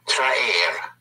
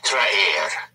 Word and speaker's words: traer: Then we have to bring, which is traer. To attract, to pull in, to bring, traer, T-R-A-E-R, traer, which is also a Google verb, traigo, T-R-A-I-G-O, traigo.